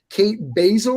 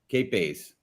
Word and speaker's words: Kate Bays: Kate Basil, I believe is how you say it. How to be agile to get success. Kate Bays. There's no L there.